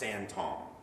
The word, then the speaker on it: sinthome: It's pronounced Santom, right? And it sounds like the French word for holy man or prophet.